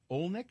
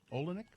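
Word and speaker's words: Olynyk: Utah Jazz forward Kelly olick is that how you say it olenick yeah slithers to the hoop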